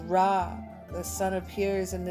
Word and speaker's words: Ra: Pronounced Ra, the sun appears in the depictions of the